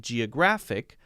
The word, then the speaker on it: geographic: are for example in Geographic mm-hmm-hmm-hmm if we want to say it correctly because we have to stress if a word ends with IC we stress the second from the end syllable any word with